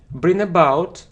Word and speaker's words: bring about: Bring about or cause some changes. So this new policy will definitely bring about serious changes in our society. And look, we pronounce it like one expression, not, look, the incorrect